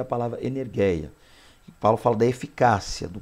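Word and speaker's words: ἐνέργεια: Lembrando que não é aula de grego, mas a pronúncia, para de repente você quer pronunciar correta, é energeia, tá?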